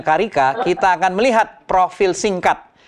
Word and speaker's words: carica: budidaya pepaya carica atau carica tulisannya carica Tapi bacanya carica kita akan melihat profil